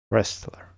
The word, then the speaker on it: wrestler: Wrestler.